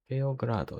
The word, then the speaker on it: Beograd: Beograd. It's like Beyblade. Beograd.